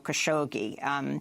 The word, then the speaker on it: Khashoggi: video evidence that Khashoggi in English Jamel Khashoggi as how it's pronounced here in the US was killed inside the